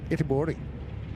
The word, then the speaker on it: Göteborg: The Swedish pronunciation, and I know that you have a little bit of Swedish in you, Tina, it's Göteborg, which doesn't sound a